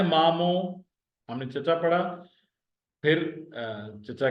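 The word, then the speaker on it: مامو: तो ये है मामो। मामू को सिर्फ आप नून निकाल दें और ये पेश की जगह पर जबर लगा दें, तो ये सिंधी में हो जाएगा मैटरनल अंकल।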